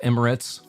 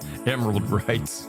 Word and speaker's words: Emirates: By the way, it's pronounced Emirates. Okay. Not the way Flea Bag wrote it. Emerald Rights.